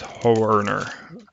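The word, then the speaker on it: Nick Hoerner: I was spelling his name wrong. I didn't realize it had an R after Ho. Thought it was just like Honer. It's Horner with the R after the E.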